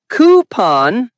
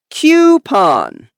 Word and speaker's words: coupon: Wrong is coupon. Depends on accent. American English is coupon. British English is coupon. Example, I got a discount coupon. Both are fine. Just pick one and stick with it.